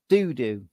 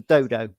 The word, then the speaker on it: Dodo: the month I gather pixel games like it pronounced donut doodoo as opposed to dodo as I would pronounce it um yeah I mean